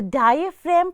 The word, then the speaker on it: diaphragm: It's the diaphragm.